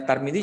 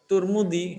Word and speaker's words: Tarmizi: Yang teman-teman di sini kalau ada misalkan namanya tarmizi, ya udah kita panggil dengan tarmizi, jangan turmudi. Ya.